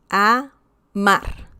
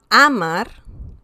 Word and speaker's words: amar: Amar. Okay? It's not amar, it's amar. Okay? So we can feel the stress here. That's the stressed syllable.